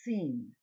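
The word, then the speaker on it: שׂ: When this letter uses the dot on the left side of the letter, it is pronounced seen. Seen. That's why you have this little reminder. SH for sheen, okay, and S for seen.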